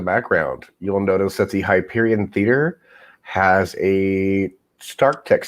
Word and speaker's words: Hyperion: Is it HyperCon? Is that how you pronounce it? Hyperion. Hyperion. That's it. I knew I was saying it wrong.